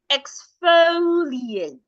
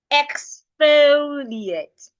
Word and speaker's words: exfoliate: what I called exceptions so this is rightly pronounced exfoliate exfoliate now let's practice all the work and I'll